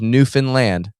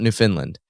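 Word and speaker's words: Newfoundland: And it is New Finland, not New Finland. Okay, they will make fun of you if you say it wrong.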